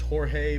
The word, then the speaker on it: Jorge: Well, first off, your good old buddy George, who it should be pronounced Jorge, but he doesn't speak Spanish.